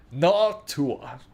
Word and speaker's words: Noctua: No, it's pronounced Noctua.